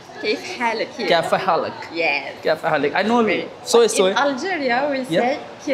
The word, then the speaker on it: كيف حالك: In Arabic, kaifa haluk? كيف حالك? Kaifa haluk? Yes. Kaifa haluk?